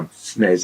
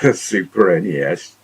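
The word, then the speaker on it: SNES: thing on twitter about how snez is pronounced super nes super nintendo people who say snares upset lots of people i say it like that actually i'm just lazy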